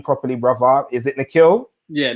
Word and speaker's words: Nikhil: Forgive me if I haven't pronounced your name properly, brother. Is it Nikhil? Yeah, Nikhil.